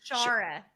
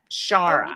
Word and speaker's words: Shara: Shara. Shara. Give me a hot second as well. She's like I was like, is it Shia? Is it She's like It's like Laura, but it's Shara.